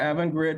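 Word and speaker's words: Avangrid: all the um bookkeeping right ui's division of evan grade do i say it right yeah evan grid was formed back in 2015 it was a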